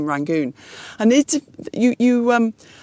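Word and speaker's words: Rangoon: different pronunciation and um although the local people called rank something like Yang Yangon or something like that but the tribes people in the Muslim area were not able to say the pronounced the letter why and so they would say rangon or something like that so basically the British tried to copy that and that's how it became rangon and it you you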